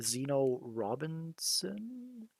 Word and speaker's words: Zeno Robinson: Zeno Robinson.